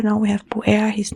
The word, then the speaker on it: Buer: And well, Buer, it almost sounds like blue, blau, the color bleu. It's like Buer, It sounds a little French as well too for me. Buer.